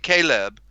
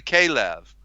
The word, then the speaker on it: Caleb: correctly Yeshua Limbaugh and Caleb who is correctly K Lev let me spell that